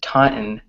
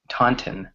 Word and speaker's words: Taunton: right so it's pronounced Taunton Taunton in American English but British people just say Taunton or they actually pronounce the t's right another word is